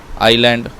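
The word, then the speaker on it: island: मरुस्थल 30 प्लेटो पत्थर आयरलैंड इसमें एस साइलेंट है इसे हम लोग आयरलैंड पढ़ने हैं आइसलैंड नहीं पढ़ना है इसे आइसलैंड पढ़ना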